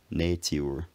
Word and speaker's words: nature: this recording in 1784, still recommends this pronunciation of nature, saying that people are at fault if they fail to give the U its full long sound, which he previously defines as U, so altogether nature.